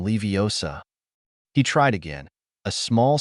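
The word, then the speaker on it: Leviosa: towards the club wingardium leosa he tried but nothing happened to the club Ron looks at Harper takes a deep breath and this time employs the correct pronunciation and full with confident wingardium levosa he tried again a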